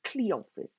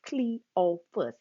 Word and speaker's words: Cleophas: i'm sister freda and my husband name is cleophas that's clee oh fuss don't say it wrong okay cleophas is my husband's name